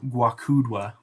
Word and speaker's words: Gwakudwa: Guacudwa. It's spelled Gwakudwa.